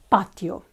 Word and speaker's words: patio: or a pharmacy um patio we have ba and then Tio is one syllable even though we have two syllables but because one of them is weak it doesn't let's say deserve a syllable of its own okay so it needs to go with a stronger one together patio okay good and of course